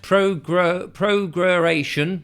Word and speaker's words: prorogation: It says prorogation, pronounced prorogation.